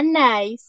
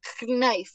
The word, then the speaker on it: knife: la letra siguiente listo no se va a decir kif o knif no la k no tiene sonido esta palabra digamos escribe